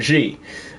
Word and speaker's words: Xi: 11 president 11 is President G um cuz in in Chinese it's spelled XI but obviously in in uh Roman numerals XI is the denotter for the number 11 so I've always called him president 11 but uh yeah president G that's that's who it